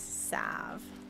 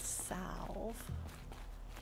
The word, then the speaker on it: salve: i was a kid it's sav not salve i thought it was south you see all right